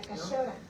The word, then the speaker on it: cachora: Porque en el norte no pronunciamos la che, sino la sh. La cachora.